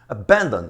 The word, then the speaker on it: abandon: Abandon, sílaba tônica, é a segunda.